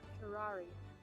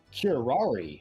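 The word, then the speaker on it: curare: it to me cuter curari curari okay that's how it's pronounced like Ferrari I would never have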